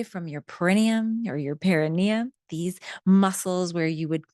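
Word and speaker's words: perineum: to the base of your spine, your paranium. Some people pronounce it the perennium.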